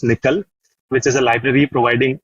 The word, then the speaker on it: NCCL: So, NC LCCL we generally pronounce as nickel which is a library